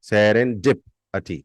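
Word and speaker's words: serendipity: वो है सरन डि पटी सेर अन डिप सरन डिप अटी सरन डि पटी the spelling is एस ई आर ई एन डी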